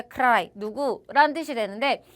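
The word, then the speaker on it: ใคร: 크라이 누구란 뜻이 되는데 요거를 우리가 빨리 만다. 그러면 카이라고 발음하게도 된다. 그래서 우리는 다 잘 지켜서 말을 해주실 거지만 왜냐 우리는 지금 현지인이 아니기 때문에 우리는 최대한 정확하게 말하는 게 중요하거든요. 근데 태국인들은 이런 식으로 이 리을 소리가 생략돼서 소리를 하실 수도 있다.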